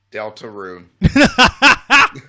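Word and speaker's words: Deltarune: a half and i i i like to pronounce it in a spanish way they'll turn it but the real way is gerard delta roon i'm getting the same vibes of like when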